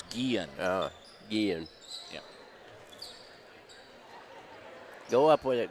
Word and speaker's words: Guillen: that even though it's g-u-i-l-l-e-n it's pronounced the Spanish so it's Guillen it's a double L's being a y sound Graber gets the free